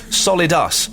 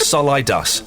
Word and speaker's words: solidus: give me a pronunciation pronounce solidus not solidas compr I think that